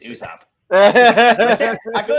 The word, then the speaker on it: Usopp: It's Usopp.